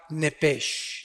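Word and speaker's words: נפש: en el original hebreo es la palabra nepes apúntala como suena nepes con s se pronuncia nepe al morir algo se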